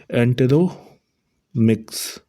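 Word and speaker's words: Enteromix: Option B एंटेरो मिक्स। एंटेरोमिक्स इसको pronounce करेंगे।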